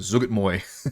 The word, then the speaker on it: Zuggtmoy: Zug my Zug I I looked up this pronunciation by the way this time Zug Moy uh let's make sure